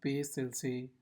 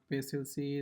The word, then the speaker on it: PACELC: What is CAP theorem and what is PLC? Like you can pronounce it however I don't know but yeah I will pronounce it as P LC.